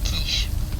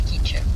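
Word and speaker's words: K'iche': Oh, I was pronouncing it quiche. Like that. Like the vegetable. It's quiche.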